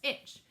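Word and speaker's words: ITCZ: it's called the International Intertropical Convergence zone pronounced itch so the main idea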